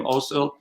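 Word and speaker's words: Özil: Ozil, how do you pronounce his name? Ozil.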